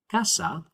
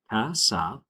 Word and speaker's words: casa: So for example, look, if I look at the word casa, casa, it has two syllables. Since the word ends in an a, the stress falls, which means my voice naturally goes up on the second to last syllable.